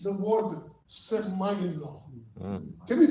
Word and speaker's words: semaino: It's the word semaino. Can we pronounce it together?